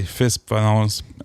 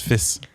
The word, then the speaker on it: fils: Exemple, un fusil finit par L et fils se prononce fils. Mais genre comme c'est F-I-L-S. Tu sais, c'est pas fil.